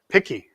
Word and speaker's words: PKI: Picky. I like it. PKI and US. I like it. It is picky. Take away a round of applause. Picky.